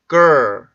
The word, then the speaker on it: girl: 발음하는 방법을 가르쳐 드렸었는데 이 소리는 정확히 보면 한국어의 걸 발음이 아니고요. 마치 그르러 이런 식으로 소리가 만들어져요.